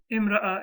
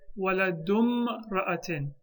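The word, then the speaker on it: ولدُ امرأةٍ: This hamza will not be pronounced. Hamzatul wasl. It won't be pronounced. So we'll say waladum ra'atin. Remember that. In the word imra'a, meaning woman, the hamza will only be pronounced at the beginning of a sentence. In the middle of a sentence, it will be dropped.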